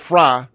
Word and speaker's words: Frey: It's spelled Frey, but they pronounce it Fry.